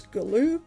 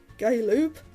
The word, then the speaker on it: Galoob: figures were made by what i now know is galoob i used to pronounce it gay loop which uh yeah i